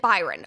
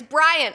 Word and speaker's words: Bryan: So, the headline from the Daily Mail reads, "Secret double life of Kristi Noem's cross-dressing husband, Byron." Oh my god, I keep saying Byron. It's Brian.